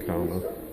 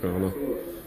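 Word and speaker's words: Kaurna: Their descendants identify themselves as Kurna or Karna. Depends on who you ask sometimes how to pronounce it. I pronounce it Kurna.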